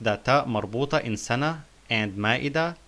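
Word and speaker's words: سنة: In this case, the ta marbuta is pronounced like the letter ha.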